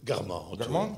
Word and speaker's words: Guermantes: Vers la fin du premier chapitre du côté de, comment on prononce ça, Guermantes? Guermantes, oui.